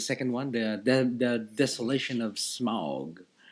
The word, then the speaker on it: Smaug: Mike and I watched The Hobbit last night, and it was The Hobbit, the second one, the Desolation of Smaug. Smog.